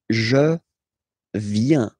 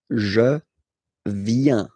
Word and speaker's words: je viens: So the first form is je viens. Je viens. Okay, remember this I, viens, viens, and then this nasal, final S not pronounced, je viens, tu viens,